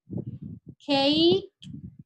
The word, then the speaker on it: cake: Cake, si se fijan, la E no tiene sonido, es insonora. Y ese EI es el sonido que nos da la A en español. Entonces, cake, una sola sílaba.